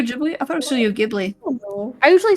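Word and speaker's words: Ghibli: I thought it Studio gibli I usually say Studio technically in Japan they pronounce it like jubile but you know is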